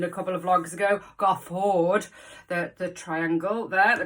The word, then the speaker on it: Garforth: couple of Vlogs ago got a Ford the the triangle there the triangle forward which is now yeah or go forth as I pronounced it when I moved here in 1998 but it's great and